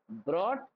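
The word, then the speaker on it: brought: break broke broken bring ब्रॉट ब्रॉट यहां पे रखना जी एच साइलेंट होता है ये बात याद रखना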